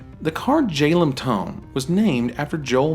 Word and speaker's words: Jalem Tone: The card Jalem Tone was named after Joel Mick, a former playtester, developer, and designer at Wizards of the Coast. His initials, JLM, are pronounced Jalem, and hence the artifact's namesake.